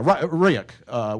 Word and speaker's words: Ryuk: It is Ryuk. Yeah. Because the S one is the other name for REvil. That's like a Russian-sounding name, so Sobaneki or something. But yeah, Ryuk, which is a manga character, which means Death Note.